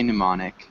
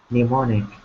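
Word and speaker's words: mnemonic: for helping you remember minice okay yeah and we don't pronounce the m just say pneumonic pneumonic okay okay any other questions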